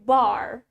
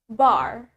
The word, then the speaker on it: bar: we have the word bar so in British accent we say it ba ba one more time blah an American accent we say it bar bar so we have ba